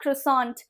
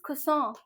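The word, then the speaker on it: croissant: इज़ ब्रूस्केटा then is खुसों खुसों इट्स नॉट क्रिस इट्स इज़ खुसों नाउ यू are sharing कि यार दीदी आप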